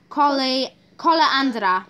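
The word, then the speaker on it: kolendra: And in Polish, this is Koleandra. Koleandra. Koleandra. Koleandra. Make sure you pronounce the R at the end of koleandra. Very important.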